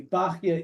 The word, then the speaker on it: Bachya: and other places but it's probably not correct uh it's probably Baka is certainly the academic standard consensus um again doesn't mean 100% it's correct but that's usually what's preferred in what's used B um in terms of